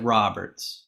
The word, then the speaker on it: Roberts: This is usually where I say, "Hey, is it pronounced Roberts or is it Roberts?"